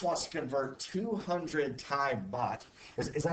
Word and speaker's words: baht: Max wants to convert 200 Thai baht. Is that how you say that? Thai It's bath?